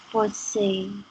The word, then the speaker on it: fausses: pronounce that final S, it's pronounced the same way as when it's singular and there's no S at the end.